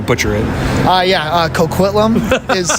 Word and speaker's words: Coquitlam: I'm going to butcher it uh yeah uh Coquitlam is how you say it um yeah no